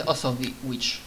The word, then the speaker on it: Osowicz: Strangely, like Polish letters, but Osowicz. technically pronounced as Osowicz.